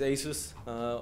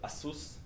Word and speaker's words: Asus: Our first customer, you can see, is Asus, or as they call themselves, Asus. This is how you can actually pronounce it in Taiwan.